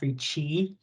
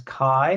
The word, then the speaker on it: CHI: going to call F Chi um because they don't pronounce Chi as Kai they pronounce it as ch um there's a bunch